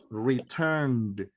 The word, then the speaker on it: returned: Returned with D at the Return. end. The sound, the final sound is D.